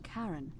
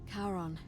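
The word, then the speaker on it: Charon: it's just as you described it only your pronunciation is a little off the name you heard wasn't karen it was c c-h-a-r-o-n as in the ferryman of the dead karon who in exchange for the right coin helps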